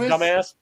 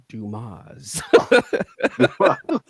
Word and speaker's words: Dumas: I believe it's pronounced dumbass. It's pronounced Dumas.